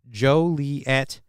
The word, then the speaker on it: Joliet: defines the proper pronunciation the only official pronunciation shall be Joliet the accent on the first syllable with the oh Jesus